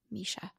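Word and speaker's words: Mesha: Instagram at my friend Misha and my name is spelled m-e-s-h-a Misha and then we'll take a minute on our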